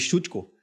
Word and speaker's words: Szucko: Vinícius terror meu convidado aqui é o Nicolas chuteco está tão bom já que até acertou a pronúncia do meu sobrenome e como a gente